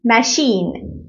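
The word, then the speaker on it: machine: لكن الاعم تش طيب في حاجات بنطقها ش يعني مع اني بكتبها سي اتش بس بنطقها ش زي ايه زي كلمه شاف شاف شاف وكمان كلمه ماكينه ماشين ماشين ماشين طبعا الكلمات دي بتبقى اصولها فرنسيه علشان كده بتبقى مش نفس القاعده بتاعتنا اوكي طيب تمام نركز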